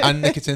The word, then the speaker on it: Anne Nikitin: And Anne Nikitin. That's how you say it, right? Just double checking. Anne Nikitin. Anne Nikitin. Darn it. You got it. Anne Nikitin.